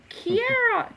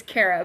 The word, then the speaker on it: Kara: Yeah, Kara's been asked all her life how to pronounce her name because of the 2 R's. It's just Kara.